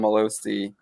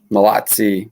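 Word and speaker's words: Mallozzi: tweet storm Stargate from Malozzi. Malozzi. I'm saying his name wrong. I should know how to say that Italian name. Malazzi. It's probably Malazzi because usually two Z's is a TS sound.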